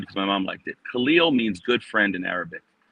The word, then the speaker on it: Kahlil: So I got Cahill, Kahlil, all these kind of things, and my dad said, "No, you correct them." So Right. I corrected the Kahlil, but I also correct